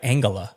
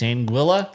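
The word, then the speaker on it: Anguilla: I've always said like Angala. Nope. It's Anguila.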